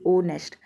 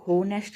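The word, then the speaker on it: honest: तब यहां देखो अभी ओनेस्ट इसको होनेस्ट नहीं बोला जाता कभी आप सभी सोचो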